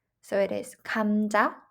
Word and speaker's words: 감자: So whenever the consonant g comes at the beginning of the word, we will pronounce it and romanize it with the G instead of K. Look at example 감자, 감자.